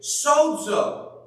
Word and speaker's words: sozo: The Greek word here is sozo. S-O-Z-O, if you're going to spell it.